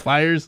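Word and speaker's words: Fiers: What were Michael Fears' stats last year? I feel like I'm saying the name wrong. I think it's Fires. It's Fires. I've been saying Fears for like the last 4 times, so apologize.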